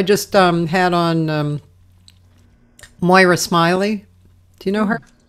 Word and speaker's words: Moira: out yeah yeah yeah Moira well it's really Moira but m o i r a mo it's spelled like Moira Smiley and um she's a